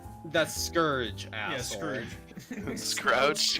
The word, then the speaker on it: Scourge: No, that's Scrouge. That's Scourge, Yeah, asshole. Scrooge. Scrouge? How about you spell it right and I'll say it right?